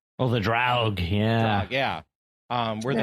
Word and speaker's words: Draug: I can't pronounce it, but I'm going to butcher it, but it's like the Dragor. Oh, the Draug, yeah.